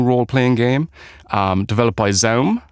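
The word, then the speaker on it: ZA/UM: game um developed by Zoom uh I think that's how you say their name it's spelled z a forward slash um so help me out here guys basically it sounds like a laser gun or something like that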